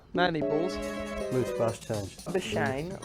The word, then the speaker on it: Labuschagne: Labuschange like champagne. I pronounce this Labuschange.